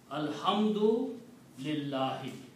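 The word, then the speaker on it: الحمد لله: Alhamdu lillahi. Now again, if I stop here, then I'm going to say Alhamdu lillah. I'm not going to pronounce the last letter here, the harakat on the last letter.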